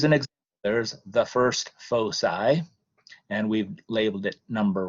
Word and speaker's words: foci: as an i but the english pronunciation of the latin plural of focus is foci and so get used